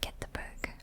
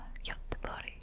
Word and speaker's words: Göteborg: And we're right over at Göteborg.